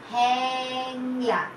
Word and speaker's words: হ্যাংলা: আর শব্দের প্রথমে যখন হয়ের সঙ্গে জফলা থাকবে তখন কিন্তু বাচ্চারা আরেক রকম ভাবে উচ্চারণ হবে, তখন কিন্তু এর উচ্চারণ চলে আসবে, যেরকম আমি দ্বিতীয় পয়েন্টে শিখিয়েছিলাম। এ হয়ের সঙ্গে হয়ে যাবে এ, হ্যাঁ এ। যেমন হ্যাংলা, হ্যাঁ হয়ের সাথে এ, হ্যাংলা। হয় জফলা আকার, অনুসার লয় আকার, হ্যাংলা।